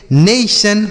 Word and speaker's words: नेशन: तो टी आई ओ एन को क्या पढ़ना है? सन पढ़ना है। बस यही आपको ध्यान रखना है। और कुछ नहीं ध्यान रखना है कि टी आई लिखा है तो क्या होगा? ओ लिखा है तो क्या होगा? कुछ नहीं। आपको टी आई ओ एन ध्यान रखना है। सन पढ़ेंगे। ठीक है? जैसे नेशन, motion, lotion, action, mention.